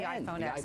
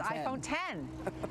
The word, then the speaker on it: iPhone X: the way, I learned it's not the iPhone X. You can't call it the iPhone X. It's iPhone 10.